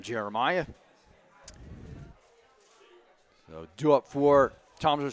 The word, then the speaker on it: Jeremiah: That's how you pronounce his last name, Jeremiah.